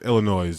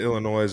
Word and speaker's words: Illinois: basketball in whatever, in Illinois, in wherever, Lake Forest. Yeah. Dude fouled Marty. Are you doing a non-silent S thing today? What's that? Just the Illinois and Bourbonnais.